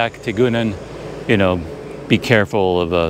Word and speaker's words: tikungan: I've noticed that there's quite often a letter G in the words that is silent. When I was talking to the guys yesterday, there was something I kept saying with a G in it, and I would say tegungan, tegungan. I would pronounce the G hard or soft, and they say, no, you don't pronounce it at all. Just ignore it.